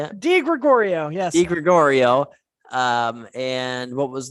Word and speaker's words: DiGregorio: DiGregorio, yes. DiGregorio. And what was the radio station called again? Dark Haven Radio. Dark Haven Radio. So make sure you're checking those things out. And definitely message the DiGregorio page for when merch comes out and all